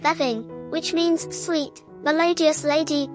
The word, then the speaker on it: Béibhinn: This Celtic perspective gives the name Vivian, pronounced Veving, which means sweet, melodious lady or fair lady.